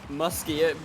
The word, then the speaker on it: Muskie: goal for groningen there muskie even rhymes with musty that is a beautiful